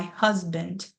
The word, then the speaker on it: husband: We can hear the way our voices rise and just the way that we say huz just a little bit longer. So that ending part the bund bund bund that is part of our schwa sound because we actually don't say ah in husband and then that next